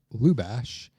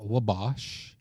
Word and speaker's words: Lubash: My name is Lubash, not Labosh. Lubash, just like it's spelled. Why are you looking at me and saying that? I'm sure you're one of the many that have butchered my last name. I feel like it's the easiest last name ever, but I get everything from LaBush to Labosh, and it's L-U, Lou.